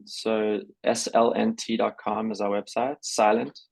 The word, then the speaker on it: SLNT: Silent is how it's said.